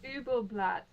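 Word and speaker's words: Übel Blatt: Did you want to skip Udabelt or how do you say that? Ubelblatt.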